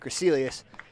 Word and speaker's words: Crecelius: That's how you say it, Crecelius. Yeah, only because I saw his parents come in and somebody said, hi, Crecelius's. It makes it a little easier. That's a tough one.